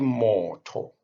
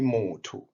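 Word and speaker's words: motho: to the hebrew alphabet when you pronounce it you do not say more talk but you say more to as if the o is a u the same applies to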